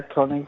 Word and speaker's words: Koenig: Walter Koenig, I think is how you say it. Yeah, Koenig. Okay. Yeah, Koenig.